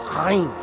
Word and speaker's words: ayin: It's pronounced from this is a chata sound from the back of your throat. It's not an I like in English. It's chayin, chayin.